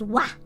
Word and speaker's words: は: So, but because this is taking on the form of a topic particle, topic marker, it actually is wa.